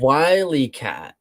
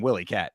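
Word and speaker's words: Wyatt: Wyat. Wyat. I thought they were saying Willyat. It's Wyat. Like wy coyote, I Yeah, I mean I get that, but All right, maybe they were just mispronouncing.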